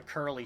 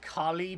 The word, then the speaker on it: Curly: actually really want the Curly spirit. I know it's supposed to be pronounced Kali, but damn it, I think it's funny to just call this random-ass woman Curly for no reason.